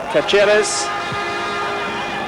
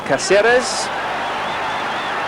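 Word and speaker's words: Cáceres: And across the back 4, it's Caceres, the number 2, or Caceres. Both pronunciations are used.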